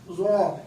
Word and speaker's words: ظا: اور چوتھا حرف ہمارے پاس یہاں پانچواں حرف ہے ہمارے پاس ظا. اس کے تلفظ کے لیے کیا کرتے ہیں؟ دانتوں کو کھول کر پڑھتے ہیں.